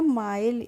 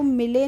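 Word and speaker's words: mile: एम आई एल ई तो यह क्या हो जाएगा माइल इसको मिले नहीं पढ़ेंगे इसको पढ़ेंगे माइल कैसे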